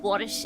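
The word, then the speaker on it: borscht: English got it but borish is actually pronounced without tea in Ukrainian ah I see I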